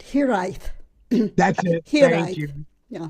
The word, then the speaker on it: hiraeth: The Welsh word is pronounced hiraeth.